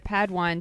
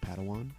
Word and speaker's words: Padawan: reunion master yoda assigned a pad one to this bold jedi that's pronounced padawan oh padawan excuse me